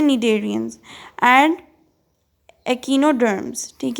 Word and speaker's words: Cnidarians: Cnidarians, Cnidarian with a silent C। अच्छा, इसको Cnidarian नहीं कहते, इसको कहते हैं Cnidarians and Echinoderms, ठीक है।